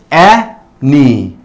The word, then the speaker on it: any: Porque la A suena y la Y suena. Entonces, en este caso digo any. Any. Aunque probablemente ustedes vean que son solo tres letras, pero es una palabra bisílaba, tiene dos sílabas.